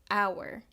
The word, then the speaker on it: hour: However, the h in the beginning of the word is silent.